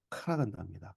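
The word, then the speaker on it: Караганда: 러시아 발음으로는 카라간다입니다. 카라간다. 예. 근데 저는 그게 가라, 간다.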